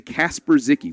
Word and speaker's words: Kasper Zicki: It's actually Kasper Zicki, which I like a lot better.